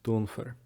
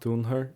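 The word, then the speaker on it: dúnfar: The F is actually pronounced here for the autonomous, dunfer. The F is said. So it's not dunher usually, it's dunfer.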